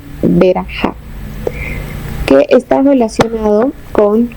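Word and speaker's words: ברכה: de la raíz BRK, que se puede pronunciar Berajá, que está relacionado con 4 significados: bendecir, abundancia, prosperidad y arrodillarse.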